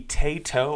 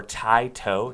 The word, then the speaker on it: Taito: this is this is the tato or thai toe depending on how you pronounce it i've heard people say